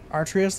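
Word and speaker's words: Ares: now do this again it's pronounced arrius though okay I'm going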